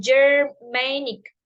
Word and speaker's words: Germanic: where the stress is on Main M um Germanic and when the wood is substitute with German